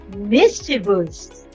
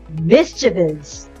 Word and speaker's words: mischievous: have the sixth word when we see this word we often we say it as mischievous but the correct one is mischievance mischievous means causing annoyance